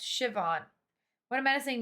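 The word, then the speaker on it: Siobhan: Sauban is pronounced Shivon.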